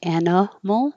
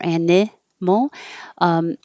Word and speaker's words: animal: In this case, the I, you can say animal or animal. If it's spelled with an I, it's more likely to go to an I. But it won't matter because it's super short. You shouldn't even hear the vowel.